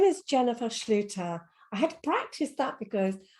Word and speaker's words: Schlueter: with me today um her name is Jennifer Schluter I had practiced that because I get some